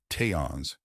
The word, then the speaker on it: Tians: The aliens, known as Tians, pronounced Tians, would study her daily.